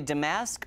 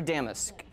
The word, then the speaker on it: damask: damus I love and I never know if I should say damask or damus I say both pronunciations are fine with me you will not get